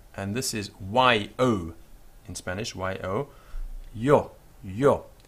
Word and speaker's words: yo: The next word is I, that's capital I, and this is Y-O in Spanish, Y-O, yo, yo. And in some parts of the world you will hear sho instead of yo, sho.